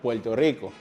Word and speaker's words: Puerto Rico: This time, the trick is that it sounds like an L. Yes. A total different letter like this with a name of the country, their very own country. Puerto Rico sounds a little more like Puerto Rico.